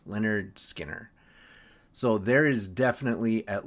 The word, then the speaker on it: Lynyrd Skynyrd: Simon and Garfunkel, Bookends, Lynyrd Skynyrd, pronounced Lynyrd Skinner.